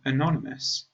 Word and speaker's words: anonymous: If we compare these two words, then anonymous, firstly, the vowel at the beginning is the schwa sound, and the emphasis or stress is on the second syllable, but anonymity, the first vowel is a sound, and the stress is on the third syllable.